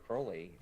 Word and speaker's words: Crowley: check out uh Aleister Crowley and I was like no I've heard of Crowley before and he's like no no it's Crowley and you gotta read